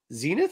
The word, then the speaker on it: Zenith: feature this character uh Zenith I guess is how you pronounce her name yeah like the old TV sets but yeah I